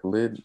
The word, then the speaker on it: Khalid: I think it's Khalid. Yeah, Khalid is how you pronounce his name.